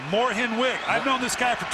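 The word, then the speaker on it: Mornhinweg: I thank you for correcting me it is pronounced Moren wig I've known this guy for 25 years and called him morning wig his entire life he says his late grandma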